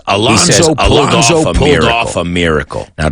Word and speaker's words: Alonso: No, porque la Z es como una S. Alonso.